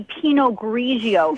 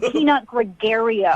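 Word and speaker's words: Pinot Grigio: You don't even know how to say penog grigio. It's not peanut gregario.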